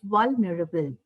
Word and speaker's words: vulnerable: E here, the last E is not actually pronounced.